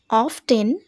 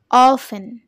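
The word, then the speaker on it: often: তালিকা এরপরেরটায় চলে যাও ও এফ টি ই এন এই ওয়ার্ড টাকে কিভাবে প্রোনাউন্স করবে অফটেন একেবারেই ভুল এটাকে বলবে অফেন অফেন অর্থাৎ প্রায় তো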